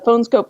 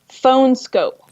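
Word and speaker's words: PhoneSkope: The phone scope case that I got, I can take off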